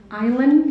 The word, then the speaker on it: island: Like when you say island, you don't pronounce the S.